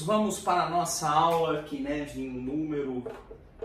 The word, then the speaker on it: Cynefin: Eu falava Kinevin, né? E aí eu vim entender que era Kinevin.